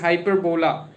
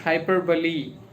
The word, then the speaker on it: hyperbole: p o l e that is hyperbola but we call it sometimes but it is not hyper just you know bola or it is like hyperbully hyperbully even though I'm confused with the just because always I call it like hyperbola or something like that but it is hyperbole so try to just